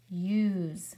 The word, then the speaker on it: use: And it's a vowel sandwich, so our S sounds like a Z. And our E is silent.